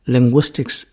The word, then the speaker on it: Linguistics: have great interest in the subject of linguistics Linguistics is a complicated subject what is to be